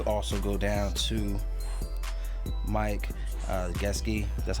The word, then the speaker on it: Gesicki: All right, you can also go down to Mike Gesicki. That's how you pronounce it, but nonetheless, too cheap to be ignored here, man.